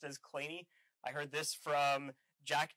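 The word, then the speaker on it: Kleene: a lot of people say this is the clean star um i've heard sort of third hand that are not to be uh pronounced as clainey i heard this from jack davidson who said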